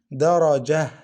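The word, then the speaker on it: دَرَجَة: In stoppage we pronounce it ha. Listen, darajah, darajah. We pronounce this ta as ha without any vowel.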